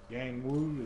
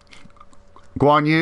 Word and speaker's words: Guan Yu: See, was it Yang Wu? Is that how you say his name? Guan Yu, yeah.